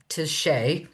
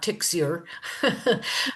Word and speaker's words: Tixier: A lot of people mispronounce her last name. For one thing, it's Touche, obviously, not Tixier.